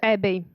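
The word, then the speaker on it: ABBYY: It's a shame, but I don't know how to pronounce the name of your company. It's Abby. Abby, where is the second Y? Okay, let it be Abby.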